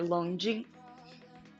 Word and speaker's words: Longjing: Yeah, it's with a J, but that kind of like sounds like a CH at the same time.